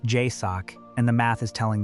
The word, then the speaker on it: JSOC: They are the most experienced men in the Joint Special Operations Command, JSOC, pronounced J Sock, and the math is telling them to leave.